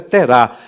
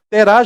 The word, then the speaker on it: Terá: as gerações de terá a Bíblia sua tela sem acento mas a pronúncia correta terá terá gerou Abraão gerou a